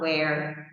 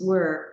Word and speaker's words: were: Remember that the pronunciation is not where, it's were.